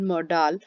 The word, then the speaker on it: modal: Fill in the blanks using suitable modal from the bracket. ਤੁਸੀਂ ਇਹਨੂੰ modal ਜਾਂ model ਜੋ ਵੀ ਚਾਹੋ pronounce ਕਰ ਸਕਦੇ ਹੋ. Sorry, but nowadays it's pronounced as modals.